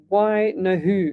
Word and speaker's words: Wenehu: It's pronounced Why no who?